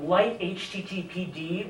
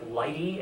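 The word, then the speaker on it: lighttpd: different application servers uh light httpd or I think Lighty as it's usually pronounced is uh similar to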